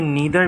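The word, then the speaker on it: neither: अच्छा, इसकी प्रोनाउंसिएशन क्या है? ईदर भी हो सकती है और आइदर भी हो सकती है, ठीक है। ये नीदर भी है और नाइदर भी है, डिफरेंट प्रोनाउंसिएशन, इसकी 2 प्रोनाउंसिएशन हो सकती है, ठीक है।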